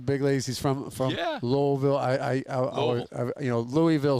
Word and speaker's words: Louisville: saying Louisville and now I've been corrected it's Louisville it's I always say you say it the way the locals say it so same I always grew up